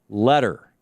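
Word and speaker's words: Leder: Letter. L E D E R. I'm I'm assuming it's pronounced letter.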